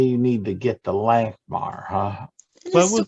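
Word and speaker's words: Lankhmar: If you would be happen to be porting near or around the city Langmar? of Lanamar. Lankmar. LANC. Hard C. MAR. Lankmar.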